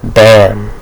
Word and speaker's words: bomb: bomb or bomb although I spell the B b o m b um Pro pronunciation bam um so the the be silence so you know people